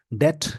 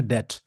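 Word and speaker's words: debt: करने जा रहा हूं डेट इसको डेप्ट नहीं बोलते बी साइलेंट होता है इसका प्रोनंसिएशन है डेट डिबेट मतलब डिस्कशन होता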